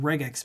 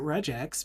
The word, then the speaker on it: regex: I always pronounce it regex. No, I used to pronounce it regex, but then I looked at it a little closer and I'm like, it stands for regular expression, so I leave it as a g sound. But you're not wrong pronouncing it that way.